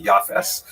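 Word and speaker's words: Japheth: Uh he has a son named Jaffith in the Ashkanazic pronunciation that would be Yafes.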